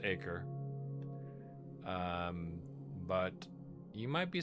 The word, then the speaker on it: Acre: I know what you're thinking. It's pronounced acre.